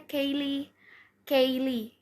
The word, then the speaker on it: Callie: Terus tadinya tuh sebenarnya dipanggilnya bukan Kelly, namanya Kaylee. Ya dulu tuh dibacanya tuh Kaylee. Terus karena Gen 10 banyak yang melesetin kayak Kelly gitu. Terus dan beberapa dari kalian juga ada yang manggil aku Kelly. Jadi ya udah dipanggilnya Kelly. Dibacanya itu Keli gitu. Tapi sebenarnya awalannya itu dipanggilnya Kaylee.